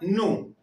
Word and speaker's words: no: Ela canta nu. Vamos a detenernos ahí. Acá ustedes verán escrito no. Su pronunciación va a ser nu.